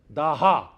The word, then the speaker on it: Daha: In Iranian, in Persian, you don't pronounce the S, you pronounce it as H. When we say Soma, they say Homa. When we say Dasa, they say Daha.